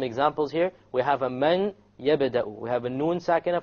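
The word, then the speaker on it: مَن يَبْدَأُ: So we pronounce this as man yabda'u, man yabda'u, man. Notice there is no man. It's immediately the mim associates with the ya, and you drop the noon sound.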